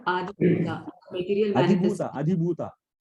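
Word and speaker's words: अधिभूत: Adhibhuta. Not Dirgha. Adhibhuta. Dirgha is not there. Adhibhuta.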